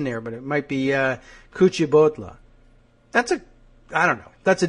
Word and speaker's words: Kuchibhotla: Srinivas Kuchibhotla. I'm getting a Kuchibhotla. But do you think it's Bahotla with the extra H? I mean, there's an H in there, but it might be Kuchibhotla.